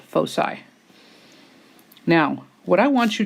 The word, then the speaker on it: foci: and they are called foci. That is pronounced with an S sound, and it is the plural of focus. Each one individually is a focus. Together they are called foci.